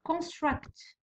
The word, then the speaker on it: construct: construct، construct راهي في الثاني، ها هو الثاني، هذا الاول وهذا الثاني، اذا نحطوها هنا construct.